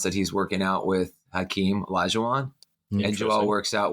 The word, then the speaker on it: Hakeem: Hakeem, as I've been told to pronounce it tonight, I'm here representing millions